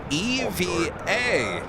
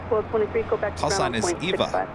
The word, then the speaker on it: EVA: Eva is always spelled in capital letters and pronounced Eva Eva so there we go Danny B solv the